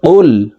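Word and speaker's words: قُلْ: দিচ্ছি কফ লাম পেশ কুল কুল কফ হরফ জিহ্বার গোড়া তার বরাবর উপরের তালুর সঙ্গে লাগাইয়া উচ্চারণ করতে হবে তো এ কফ জজমওয়ালা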